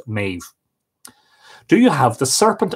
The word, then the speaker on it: Medb: Sorry, M-E-B-H-D-H, which would be pronounced Maeve.